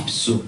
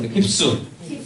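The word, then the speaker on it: ὑψόω: 이 단어의 원어 번역의 발음은요 헬라어입니다. 힙스입니다. 힙수. 한번 따라서 힙수.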